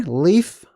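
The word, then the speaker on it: Líf: you see right there leaf that's pronounced Leaf it literally means life okay so Life Will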